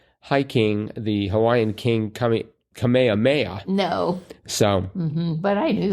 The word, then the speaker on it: Kamehameha: Well, it really kind of looks like it sounds Kamehameha.